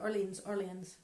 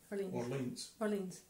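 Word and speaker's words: Orléans: at the Battle of how do you say it? Orleans. Orleans. Not New Orleans, but the old one. Orleans. Sound French.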